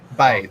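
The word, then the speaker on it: b'y: when speaking newy is when you're saying like we say buddy or guy they say it's one syllable one syllable by they're saying boy but it's B apostrophe why oh everybody how doing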